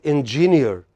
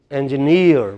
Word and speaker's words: engineer: We cannot say engineer, we should say engineer.